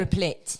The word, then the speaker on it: Replit: Replit.